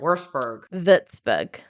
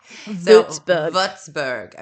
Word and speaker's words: Würzburg: This is actually pronouncing the word correctly. Würzburg.